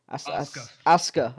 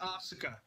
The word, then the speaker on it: Asuka: It's pronounced Asuka. Yeah, it is pronounced Asuka. That's the way. Yeah. That's the Japanese pronunciation, but paraphrasing with the Western lingo, it's Asuka.